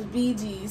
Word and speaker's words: Bee Gees: Because we looked up how to say it and it was Biggie's.